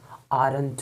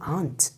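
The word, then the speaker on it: aren't: Because M plus non का जब contraction बनाएंगे तो एमेंट नहीं होगा, आरंट होगा. आंट, जैसे आरंट ना बोल करके आप बोलेंगे आंट, आंट, आंट.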